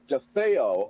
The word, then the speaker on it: DeFeo: It's pronounced like DeFeo. Okay, dude. Okay, well, I didn't know, Robbie. I was just gonna go with my guess, with my English, with the grasp of the English language that I have, which isn't bad, by the way. So DeFeo. That's it's the typical Italian pronunciation for such a thing, and I'm sure you